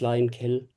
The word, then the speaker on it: lime kiln: Uh lime kiln is always lime kiln. The n is never pronounced.